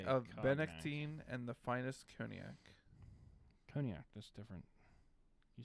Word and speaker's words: cognac: you say it cognac i don't think it's codenyak it's cognac no cognac you are the one